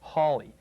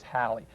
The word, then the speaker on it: Halley: the proper pronunciation is halle so you can call it halley's comet or comet halley but don't call it haley whatever you do that's just plain wrong and that of course